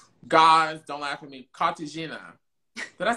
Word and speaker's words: Cartagena: No, ask someone to pronounce it for you, girl. Cartagena.